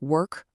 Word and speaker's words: work: When the letter O is followed by an R, it often changes its sound completely. In words like work, word, and world, it creates this sound. It's the same sound you hear in bird or turn.